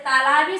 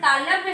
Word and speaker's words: तालव्य: कुछ बच्चे इसका गलत नाम दे देते हैं, शायद सही जानकारी नहीं के तालाबी स कहते हैं, जबकि ये गलत है। तालाबी स कोई शब्द नहीं है, तालु से उच्चारण होने के कारण इसे तालव्य स कहते हैं। शुद्ध इसको तालव्य स हम कहते हैं।